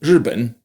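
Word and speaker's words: 日本: R can also be a vowel on its own, like in 日本, Japan.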